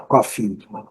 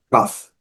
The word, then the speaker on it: cough: Então, quando a gente for pedir um café, a gente vai falar coffee. Quando quiser falar que está com tosse, é cough.